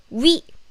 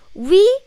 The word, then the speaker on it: 위: 위 has many different meanings, and 위 can be above, but here is used for stomach. Only the pronunciation is same.